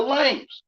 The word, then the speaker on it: lamb: He watched over the sheep, the lambs. That's why I can see it. Lamb, lame. The B is silent.